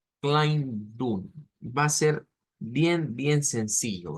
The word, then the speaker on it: Kleidung: Porque la vamos a pronunciar como Kleidung. Kleidung. Va a ser bien sencillo, ¿verdad? La pronunciación de esta es una EI que se transforma en AI.